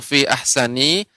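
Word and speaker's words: في أحسن: Nah, untuk fi ahsani tidak panjang, Nek, ya, dibaca dengan pendek. Fi ahsani taqwim. Nita, nita. Ya, tidak ahsani, ini kepanjangan, Nek.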